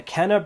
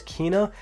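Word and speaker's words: Kena: soul storm then a kenneth bridge of spirits which i guess i'm saying it wrong because the way that it was pronounced was kina but either way this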